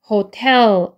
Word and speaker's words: hotel: 그 다음에 얘는 hotel 한 번에 읽고 텔인데 텔 뒤쪽에 강세 있기 때문에 호텔이 아니고 호텔 이렇게 되는 거죠.